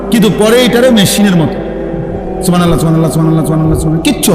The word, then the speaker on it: সুবহানাল্লাহ: পরে এটারে মেশিনের মতো সুবহানাল্লাহ সুবহানাল্লাহ সুবহানাল্লাহ সুবহানাল্লাহ সুবহানাল্লাহ, কিচ্ছু হয় না। এটা হা উচ্চারণ না হলে তো তাসবিহ হয় নাই। শেষের গোল হাটা সাকিন করতে হবে এবং প্রত্যেকবারই নিঃশ্বাস ফেলতে হবে।